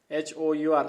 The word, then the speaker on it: hour: Sania left after an hour. Sania left after an hour. HOUR, hour. First word is consonant. But pronunciation begins from ओ से pronunciation शुरू हो रहा है.